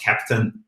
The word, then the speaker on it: Keptn: We speak German, and for us, Keptn actually really sounds like captain, like the captain of a ship. And that's also a little bit of the background of the name. Then it's spelled with the K, so for Kubernetes.